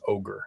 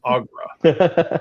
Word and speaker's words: ogre: I did not know how to pronounce ogre. I thought it was pronounced Agra.